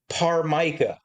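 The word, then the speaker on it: ptarmica: Achilia par mica which is spelled with a silent t I think. Pt a r mic. Pt a r m i c a this her.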